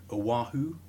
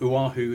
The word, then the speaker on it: Oahu: pronunciation here, Oahu. Uvavu. Uvavu. Oahu in Hawaii, involving a diver called Ocean Ramsey and her fiance Juan Oliphant, who was the photographer.